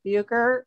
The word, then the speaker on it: Bucher: It's Sister Mary Janet Bucher, who is the administrator of Our Savior Parish in Covington.